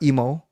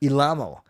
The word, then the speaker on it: Ilamo: Not emo, not imu, not emu, but Ilamo.